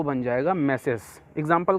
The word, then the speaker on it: tmesis: जी हाँ, इसको TMESIS लिखा है लेकिन प्रोनाउंस करते हैं मैसेस।